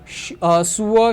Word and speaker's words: zur: इश गेह सुअर शूल, शूल का मतलब होता है स्कूल, ठीक है, स्कूल। आप मेरे प्रोनाउंसिएशन पे फोकस करो, मैंने यहाँ पे जेड